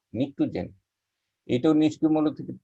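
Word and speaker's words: pnictogen: তারপরে হলো নিকটোজেন, উচ্চারণটা পি বাদ দিয়ে করতে হয়, এটাকে বলা আমরা নিকটোজেন।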